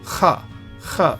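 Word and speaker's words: ך: So for example, kaf is pronounced as loch, kha sound. This final kaf is pronounced kha, as though there is no dagesh.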